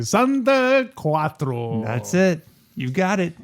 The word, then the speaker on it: Quattro: be the one you got right say something Quattro that's it you've got it how do you